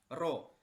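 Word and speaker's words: rho: ini ditambahkan dengan huruf seperti P ini tapi dibacanya adalah roh seperti halnya erection jadi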